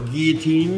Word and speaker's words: guillotine: A cutaway engine, a little mini guillotine over here, or guillotine if you want to pronounce it properly.